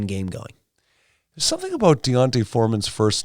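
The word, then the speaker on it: D'Onta: It's Deonta. Like, I don't know. Like, okay, it's Deonta? It's it's not Deonte. I said Deonta Foreman.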